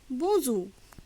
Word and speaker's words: bonjour: এখানে এন থাকায় শব্দটির উচ্চারণ নাসিক্য শ্বাসবায়ুর ব্যবহারে উচ্চারিত হবে। BONJOUR বোঁজু।